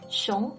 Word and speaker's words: 熊: Anyways, 熊 in the second tone means bear.